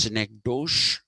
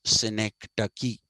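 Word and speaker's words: synecdoche: d o c h e ducky it's not pronounced syc do it is pronounced sinek ducky okay and what is a Sy ducky a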